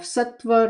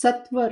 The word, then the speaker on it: sattva: These are also known as the three gunas or qualities of sattva, rajas, and tamas. Sorry. Ah, get caught up in the English pronunciation. It's sattva, rajas, and tamas.